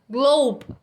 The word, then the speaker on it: globe: Então, globe, globe, tá? Você não pronuncia o E também, termina no som do B.